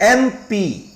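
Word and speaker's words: MP: और एम पी, आप जब इसका उच्चारण करेंगे तो आप एमपी कहते हैं। एमपी को बोलते समय आपके मुंह से पहले निकला ए, एक स्वर वर्ण की ध्वनि है, इसलिए इसके साथ हम एन यूज करेंगे।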